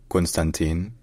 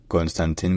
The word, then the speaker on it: Constantin: bir in space in Romanian his name is pronounced Constantine brush Constantine brush Constantin Constantin all right if you enjoy